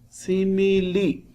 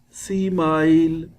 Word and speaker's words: simile: discussed it before also see me li be careful don't read it don't pronounce it like smile see my no alarm the correct pronunciation see is li you should know also